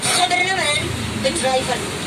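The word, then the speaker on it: Gouvernementsbedrijven: Tapi pelafalannya orang Belanda, huruf G itu kayak K. Jadi saya bacanya harus pakai pelafalan. Government Bedrijven.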